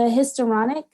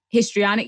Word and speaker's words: histrionic: sorry to cut you off but you the hysteronic is that what is that what am i saying it right histrionic yeah histrionic could you do you think that